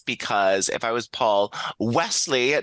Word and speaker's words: Wesley: So while her, marriage may have did with Paul, I believe it's Wesley, not Weasley.